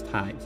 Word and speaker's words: tithe: Maybe I'll be told, "Hey, that tithe cannon. Here's your a million dollars." Am I saying it right? It's been tith this whole time. Surely it's tithe. That sounds more like a word than tith.